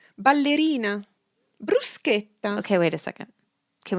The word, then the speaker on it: bruschetta: Yeah, but it's pronounced bruschetta, but we call it that in American or in English as well. Yeah, but if you say bruschetta in Italy, you may combust spontaneously because it's a huge sin to do that.